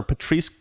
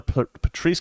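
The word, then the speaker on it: Patrisse: police it's funny that her name rhymes with police i never never noticed that blm founder patrice con man colors resigns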